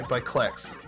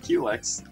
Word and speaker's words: Klex: I don't think I've ever heard him pronounced that way. That's how he likes it pronounced. Really? Oh. Oops. I've always pronounced it Qlex. Yeah, no. fine. Like a Q-tip.